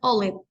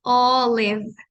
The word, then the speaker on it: olive: abecedario vimos precisamente que el sonido de la v no es B no es Olive decimos Olive Olive pegando labio de abajo dientes de arriba como si estuviéramos sonriendo y sacando aire Olive el sonido se asemeja mucho al de una F Se podría decir ol